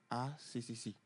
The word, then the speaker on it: A3C: Nous, on le prononce ACCC.